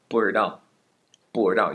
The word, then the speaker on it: 不知道: 不知道, you can take the 知 and completely replace it with an Erhua 不知道.